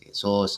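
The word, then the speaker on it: Jesús: I think the name is pronounced Jesus and not like in English.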